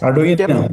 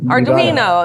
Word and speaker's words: Arduino: Arduino. Arduino. It's Italian.